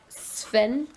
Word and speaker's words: Sven: Sven? It's like saying the word sphere.